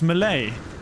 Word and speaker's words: Malay: it Malay Malai how do you say that Malai my lady tips Fedora let's look for some more buried Technologies cuz I've got how many doesn't even say here so it's Malay sounds sweet sounds weird I suppose I should